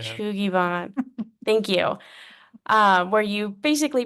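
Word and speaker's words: shou sugi ban: It's like shogu, something like that. It's like a way of Fun. Yeah. Shugiban.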